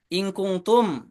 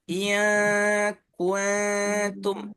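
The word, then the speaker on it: إِنْ كُنْتُمْ: In kuntum dibaca in kuntum pakai nun, nggak boleh ya. In kuntum. Harusnya iya kuntum, sengau suaranya gitu ke hidung.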